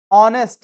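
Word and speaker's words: honest: beautiful house house is ऑनेस्ट य से भले स्टार्ट लेकिन मैं बोल ऑनेस्ट नेस्टी इज एन ऑनेस्ट मैन ही इज एन ऑनेस्ट मैन भली स्टार्ट लेकिन एच क्या है साइलेंट है दे आर प्लेइंग टू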